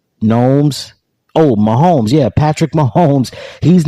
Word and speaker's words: Mahomes: about this I think it rhymes with domes Gomes oh Mahomes yeah Patrick Mahomes he's